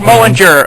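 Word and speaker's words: Mjölnir: With Mjolnir, or however you pronounce it. it's Mullinger, my good boy.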